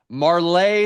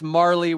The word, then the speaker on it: Marlay: Marlay Zolomain a lot of people think it's Marley. We're talking about fixing pronunciation the entire year. It's Marlay Zolomain.